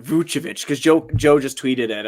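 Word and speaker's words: Vučević: Vucevic. All right, Vucevic.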